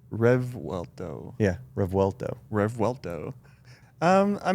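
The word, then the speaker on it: Revuelto: you say R RTO like rev and then welto rev WTO yeah RTO RTO um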